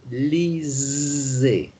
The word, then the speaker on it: lisez: So it's, what sound is the S? Can you give me just the sound of the S on its own? Just pronounce the S on its own in the word lisez. Just the S sound. So just Z. Z, right.